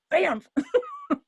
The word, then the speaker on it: Banff: oh okay they were things like bamf those people that don't get it i always tell them they have to pronounce both the apps keep saying it it's